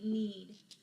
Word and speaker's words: knead: that case out but in our english language we really don't hear the K it's a silent letter especially in the we need what does this word